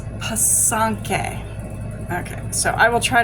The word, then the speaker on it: pysanky: It's pysanky. Okay, so I will try to remember and say it properly. Like I said, it's pysanky.